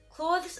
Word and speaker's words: clothes: Clothes, as in clothes that you wear, I pronounce like close, as in close the door.